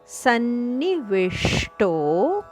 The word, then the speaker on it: ಸನ್ನಿವಿಷ್ಟೋ: ಅಲ್ಲ ಹೃ ಹೃದಿ ಸನ್ನಿವೇಶ ವಿಷ್ಟೋ ಷಟ್ಕೋನದ ಶಕ್ಕೆತ ಟದ ಒತ್ತು ಸರ್ವಸ್ಯ ಚಾಹಂ ಹೃದಿ ಸನ್ನಿವಿಷ್ಟೋ ದೀರ್ಘ ಮತ್ತಸ್ಮೃತಿರ್ಜ್ಞಾನಮಪೋಹನೈಂಚ ಮತ್ತಸ್ತ ಕೆತದ